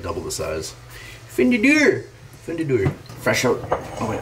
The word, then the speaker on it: Fundador: Fundador. The one I had before was like double the size. Fundador.